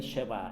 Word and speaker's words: 쉐바: 이제 2열 쇠가 그는 정확한 발음은 내일은 쉐바 입니다 걔를 시어가 그대를 은